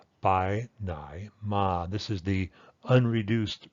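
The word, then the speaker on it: ไปไหนมา: be translated any of those ways so the pronunciation is something like by Nai ma this is the unreduced pronunciation here's a complex tone by Nai ma bye ma by Ma okay but what you'll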